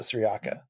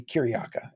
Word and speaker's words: Cyriaca: And someone noted that uh our pronunciation of Sriaka is probably wrong. That in uh in Byzantine times where the saint comes from, it would be Kiryaka.